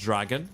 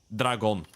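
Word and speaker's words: Dragan: It's not supposed to even be pronounced Dragon. It's supposed to be Dragon, which is the name. Yeah. Well, Serbian way of saying it, right?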